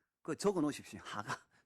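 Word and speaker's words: הגה: 여러분 묵상이라는 것은요.이 단어가 이제 히브리어가 발음이 하가입니다. 하가. 그거 적어 놓으십시오. 하가.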